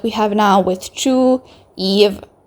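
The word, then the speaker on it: Yves: have now with ch Eve I'm going to call her Eve instead of eyes I'm pretty sure Eve is the correct pronunciation but once again please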